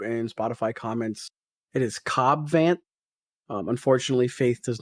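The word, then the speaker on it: Cad Bane: don't worry YouTube and Spotify comments it is cob vant um unfortunately Faith does not watch Star Wars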